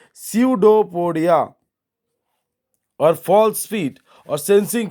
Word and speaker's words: pseudopodia: See here, P will be silent, so your pronunciation will be pseudopodia, or false feet, or sensing food to engulf the food particles and push it inside the body.